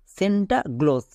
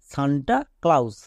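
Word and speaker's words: Santa Claus: একে আমরা ভুল করে বলার সময় এরকম বলি সেন্টাগ্লোস বাট এটা কিন্তু সম্পূর্ণ ভুল এর উচ্চারণটা হচ্ছে সান্তা ক্লাউস এবার চলো এরও বানানটা আমাদেরকে শিখতে হবে দন্তস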